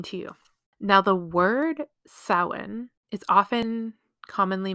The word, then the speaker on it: Samhain: by English speakers as Sam Hayne because they look at it and they're trying to pronounce it phonetically with the English alphabet which just doesn't work because the Irish alphabet